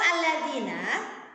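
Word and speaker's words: الَّذِينَ: Lafal alladzina pada huruf dzal, kemudian ada kasroh dan diikuti oleh ya sukun. Ini tidak lain dan tidak bukan adalah mat tabi'i. Ya, jadi cara membacanya dibaca panjang 2 harokat.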